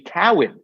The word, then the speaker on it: Cowan: also the straight Cowen whose name has been mispronounced my entire life I know it is Cowan but uh I love